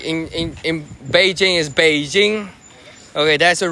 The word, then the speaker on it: Beijing: No, the name has always been Beijing. You mean Beijing? It's just like right now they try to go with the English pronunciation. No, it's has always been Beijing. It's called we call Beijing. Okay. Uh or B or back then it's called baiting. Okay. Bing. But it's still baiting. It's not packing.